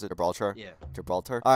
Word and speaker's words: Gibraltar: Is it actually really pronounced it? Gibraltar? Yeah. Gibraltar.